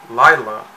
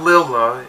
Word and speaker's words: Lila: by the original owner Lila not Lola as I pronounced it in and the Snoopy